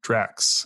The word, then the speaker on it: Drax: today is react native draxx or how do you say that Drax Drax Drax is correct and that's a dragon